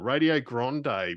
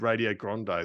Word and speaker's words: Radio Grande: And so if you go to YouTube and just so it's radio and then GRANDE for those wondering what Grande, how it's spelt, given my broad Aussie accent, do check them out.